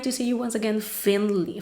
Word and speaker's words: Finney: see you once again finley finney i think that it's the way that it's pronounced his full name and